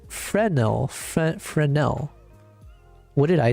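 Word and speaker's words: Fresnel: Um it's pronounced Frenel. Frenel. What did I say? Fresno. F. Okay, so the S is silent. Frenel.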